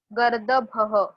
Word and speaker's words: गर्दभः: गर्दभः, गर्दभः। द के ऊपर हमें रेफ देना है, इसीलिए ग के बाद आई am pronouncing that raw.